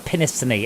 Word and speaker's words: Penistone: i also live near penistone or pinistony as it's more correctly pronounced so yeah there